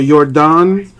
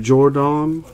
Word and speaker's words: Yordan: Yordan, I mean, it's Jordan spelled with a yay, with a Y, with a yay, with a Y. So Yordan instead of Jordan or Jordan, Yordan.